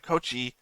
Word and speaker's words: Coach: in the first episode saying coachi because they add an e sound at the end of it when they say it I so I